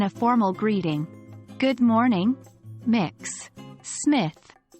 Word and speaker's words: Mx: gender-neutral title is MX pronounced as mix or mux which can be used regardless of a person's gender identity or marital status here's how it looks in a formal greeting good morning mix Smith it's best